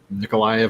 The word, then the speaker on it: Mykolaiv: of starting to poke into Mykolaiv, or Nikolaev, I guess, Russian pronunciation.